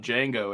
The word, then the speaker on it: Django: a Crosby but he's he spelled with the D with the proper D in the front which is silent gotcha got after after